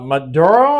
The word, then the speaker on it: Maduro: member, well leader actually, uh Maduro, I believe that's how you say his name.